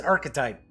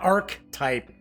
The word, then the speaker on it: archetype: quickly yes it is archetype but I did say archetype kind of quick but yes it is not arc type cuz that's never how I pronounced it alright moving right